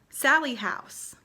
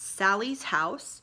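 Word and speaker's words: Sallie House: Sally House. It is the Sally House or Sally House. It is not Sally's house. It is not little Sally's house.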